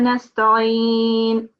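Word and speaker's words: نَسْتَعِينُ: No, it's wa iyyaka nasta'in. This is an ayn sound. You have to pronounce that as an ayn from your throat.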